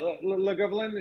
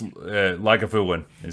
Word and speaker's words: Lagavulin: I feel like Le Gobelin, is that how you say it? Or I've been in America too long. Yeah, so it's Lagavulin.